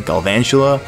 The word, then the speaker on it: Galvantula: he's gonna go for galvantula i believe it's pronounced that way galvantula but i'm gonna go ahead and switch into